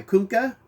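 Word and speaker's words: Kunkka: number three this is cover a by cunca i guess that's how you say it it's k-u-n-k-k-a but i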